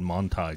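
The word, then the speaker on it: Manthey: Yeah, well, I asked him in German. I said, how do you pronounce it? Yeah. And he said, Manti.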